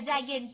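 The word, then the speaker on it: giant: ए जीी ए जागें सो ये थोड़ा सा प्रोनंसिएशन स्पेलिंग से अलग है एंटिक टाइप का दिख रहा है लिखा हुआ बट एक्चुअली जाइंट है तो कुछ चीजों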